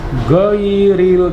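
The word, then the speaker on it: غير: Huruf ghain itu khatar, ya. Huruf ghain diucapkan tidak seperti huruf G dalam bahasa kita, ya. Bukan ghairil tapi ghairil, harus dari penggorokan bagian atas.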